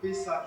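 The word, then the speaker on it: Pesach: Du mot hébreu Pessa, qui s'écrit comme ça, se prononce P-E-2-S-A-H, qui signifie enjamber, passer par-dessus.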